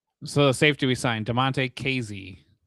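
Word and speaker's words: Damonte Kazee: So, the safety we signed, Damonte Kazy.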